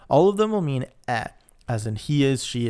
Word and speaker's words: è: of the pronunciation, between è, like egg, which is it is he is, she is, versus e, which means and, which has no accent on it. So e. So just careful with that. They are quite similar, but they are different sounds, and in fact, they